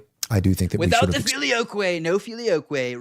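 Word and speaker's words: filioque: I do think that without the filio way no filioquay rhymes with gay do we really want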